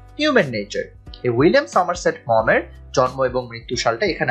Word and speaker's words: Maugham: এটার উচ্চারণটা কিন্তু মম হবে, MAUGHAM, উইলিয়াম সমারসেট মম।